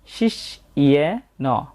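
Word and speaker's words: শিষ্যেণ: এখানে আমরা জ ফলার উচ্চারণটা আগে ব্যবহার করছি ই এবং অ না হয়ে এই এ কারের জন্য এ হয়েছে, শিষ্যেন।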